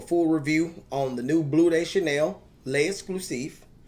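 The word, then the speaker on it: Bleu de Chanel L'Exclusif: Now, today I'm going to do a full review on the new Blue Day Chanel le exclusive. Yep, that's exactly how you say it.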